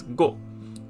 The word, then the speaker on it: 五: automatically like this and it's pronounced as go go so now we have